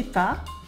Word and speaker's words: pas: As you can see as well, the S at the end of pas is silent too.